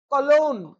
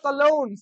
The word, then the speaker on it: Cologne: বুলোন কিন্তু হবে এটার প্রোনাউন্সিয়েশন, বোঝা গেল, ইম্পর্টেন্ট প্রোনাউন্সিয়েশন মনে রাখবে। এসটি জেম অফ কম্পোস্টেলা, ঠিক আছে, কলোন, এটা হবে কলোন, COLOGNE, কলোন, showing her worldly experience and devotion,